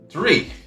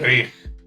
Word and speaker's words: dreich: It's definitely got, obviously, the Norse influence there, so it's got that real, Sounds like, Germanic. back of the throat. Yeah. Like, Like- dreich.